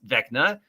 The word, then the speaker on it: Vecna: According to the Forgotten Realms Vecna, pronounced Vecna, was once a human king and lich from Orth who ascended to godhood.